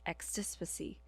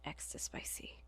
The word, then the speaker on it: extispicy: Editing Fel would later learn that it was indeed pronounced extipacy and not extispicy.